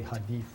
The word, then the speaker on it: hadith: It's actually hadith. Hadith. Hadith. Okay.